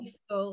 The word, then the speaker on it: Seethal: It was Seethal. It rhymes with trifle. That's how you need to remember it.